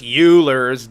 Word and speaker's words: Euler: Ben Stein and Ferris Euler's they off but his name is Euler Leonard Euler not yet Leonard Euler Euler where the do you get this pronunciation ah